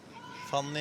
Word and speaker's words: Fanny: Fanny and Almeida, quite Swedish names, Nordic anyway. And I know Fanny has there's a lot of people mispronouncing her name, calling her Funny.